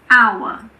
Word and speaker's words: hour: There are also a few words that start with a silent H. For example, air, honest, honor, hour.